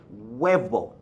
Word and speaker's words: huevo: it's just different okay the V however does produce a B sound right here v gives you a piece sound in English but Webo weibo it's supposed to